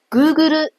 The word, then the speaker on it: グーグル: 和 lu 各占一个音节， Google 也有 4 个音节，前面